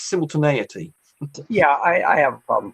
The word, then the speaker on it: simultaneity: I've worked out how to pronounce that, by the way. It's simultaneity.